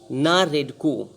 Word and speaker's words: NAREDCO: अगला क्वेश्चन है कि national real estate development council NARDC NAREDCO है ना, CO, नारेडको, इसको नारेडको पढ़ेंगे। नारेडको के डायरेक्टर जनरल मतलब